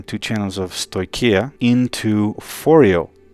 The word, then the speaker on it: Phoreo: into foreo right and i didn't know how to pronounce this but i've already looked at a video by martin martin clang the designer and he pronounces this foreo so that's how i'm going to pronounce it as well and basically fourio is